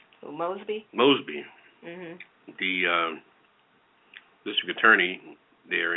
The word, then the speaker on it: Mosby: I mean, this Miss Moby, is that how you pronounce her name? Mosby? Mosby.